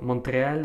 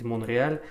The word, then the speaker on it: Монреаль: поэтому если на английском это Montreal, я говорю Монтреаль, на самом деле, естественно, правильно произносить Монреаль.